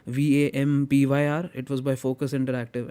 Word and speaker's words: Vampyr: game which I loved was Vampire, or how do you want to pronounce it? It's Vampyr.